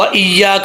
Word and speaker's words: ایاک: نعبد و ایاک نستعین، یہاں پر لوگ مسٹیک یہ کرتے ہیں کہ ایاک، یہاں پہ پڑھتے ہیں ایاک نعبد و ایاک نستعین، ایسا نہیں کرنا، یا کے اوپر شد ہے، حمزہ زیر یا، یا زبر الف، یا، کا زبر کا، ایاک، ایاک، ایاک نعبد، اب عین کو نارمل